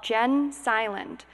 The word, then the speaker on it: Gen Silent: and discrimination it's called Jen silent G en like Generation GE n space silent was